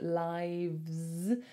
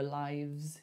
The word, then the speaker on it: lives: Just make sure that pronunciation is v, so lives. I heard that you wanted to do a f like life. So make sure when we pluralize life, we go lives.